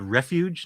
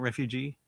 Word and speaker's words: Refuge: By the way, I think the film is called Refuge, not Refugee.